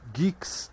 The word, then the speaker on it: Guix: O próprio Guix, né? Que é assim que se pronuncia, mas escreve-se GUIX, é um sistema operacional